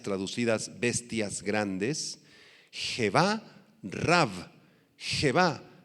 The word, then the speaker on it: Jebá: Jebá, H-E-B chica A, con acento en la A.